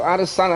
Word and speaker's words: Adesanya: In the middleweight division, we're about to see the 5 and 6 Israel Adesanya. That's right, 5 and 6. I said it right.